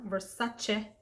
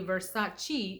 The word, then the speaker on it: Versace: pronouncing it wrong and apparently versace is not how you say it is versace so just making sure i'm